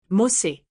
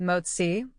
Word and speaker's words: MOTS-c: Now, let's talk about the name again. Mosi, people sometimes pronounce it moi or moi. Either way is fine, but if you ever see it written out, it is MOTS- C.